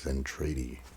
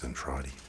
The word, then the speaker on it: Zentradi: I thought maybe like oh, it's then tradie. I pronounced it wrong cuz that's what I do a lot of times. And I was like oh, it's Zentradi.